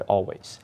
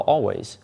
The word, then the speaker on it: Alvvays: 2022 best albums while always which is spelled a l VV a y s was originally a lesser